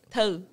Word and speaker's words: Tong: How do you say it? In legit, in the... Yeah. Yeah, it's toe. Which does not sound like hey, tongue.